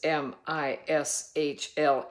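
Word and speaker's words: משלי: has told us uh in Hebrew it is m i s hle e i mishle is how you pronounce it and he said that Proverbs Mishay means a family or a village of Parables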